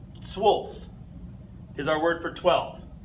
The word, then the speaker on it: zwölf: Zwölf. Zwölf is our word for 12. Again, one of our letters with the umlauts, this time in O, okay, makes the U sound, zwölf.